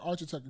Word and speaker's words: architect: Well, is architect or It's like architect? a K. It's like a K.